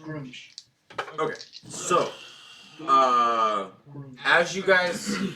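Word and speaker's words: Gruumsh: Yeah, it's pronounced Groomish.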